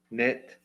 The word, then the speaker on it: knit: Knit, yeah, the K is silent.